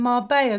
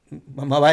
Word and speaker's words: Marbella: Marbella. It sounds weird because the double L, you'd pronounce it with the Y. So if you were saying that in English, it would be Marbelli.